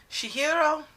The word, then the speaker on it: Chihiro: in a way Gero Gero and her pigs she hero that's how it's pronounced all right mysterious Haku who explains that